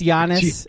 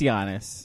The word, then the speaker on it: Giannis: Since when did we start pronouncing it with a hard G? Or is this are you guys doing Gianna Michaels? It's Giannis. It's Giannis.